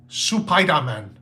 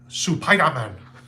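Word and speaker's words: スパイダーマン: Japanese Spider-Man, who is Supaidaman. Some extra syllables they work in there.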